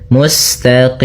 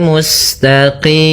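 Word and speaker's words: مستقيم: Kemudian musinnya mengalir mustaqim. Kemudian pada lafal qim di sini ada bacaan mad arid di sukun itu boleh kita panjangkan dua harakat, boleh empat harakat, boleh pula menjadi enam harakat.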